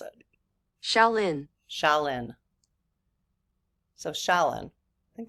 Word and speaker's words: Shaolin: Okay, so it's Shaolin. This is how you pronounce it. Shaolin.